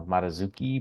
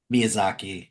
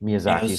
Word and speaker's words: Miyazaki: who often helped uh mazuki M I said it right the first time Miyazaki Miyazaki sorry John it was